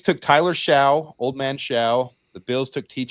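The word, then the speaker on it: Shough: His name is so strange the broadcasts are pronouncing it Tyler Shuck. It's weird. Isn't it Shia? I know, but apparently Ian Rapaort, Daniel Jeremiah are calling him Mr. Shuck.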